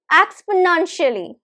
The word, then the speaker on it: exponentially: Now, how many syllables are there? Tricky question. 5 syllables, quite a lot of syllables, 5 syllables, and you have to recognize the stress. Again, tricky question. Exponentially, exponentially. The stress is right in the middle, third syllable. So it is stressed, we stress the nun.